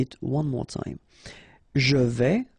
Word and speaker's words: vais: Je vais. Final S not pronounced here, and remember, when you combine this A and E together, you get the sound E, so really open. Je vais.